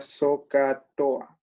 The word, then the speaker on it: SOHCAHTOA: Esta palabra que si uno la intentamos pronunciar sería SOHCAHTOA. SOHCAHTOA intercalando estas H por acá.